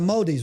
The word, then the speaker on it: Māori: The Māoris, right? So how do you say that? Māori. You want to like swallow it.